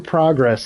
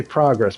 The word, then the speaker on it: progress: time progress it's weird you pronounce it differently because if you say in progress like is it a noun you say progress but if you say it as in a verb we're gonna progress that's weird man [